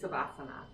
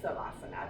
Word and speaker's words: Savasana: So your last pose is Savasana. So Savasana, or Shavasana, depending on who your yoga teacher is or how they spell it. I always say Savasana because that's how I was taught.